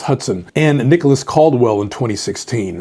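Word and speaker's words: Hutson: It's not Houston, it's Hudson, and Nicholas Caldwell in 2016.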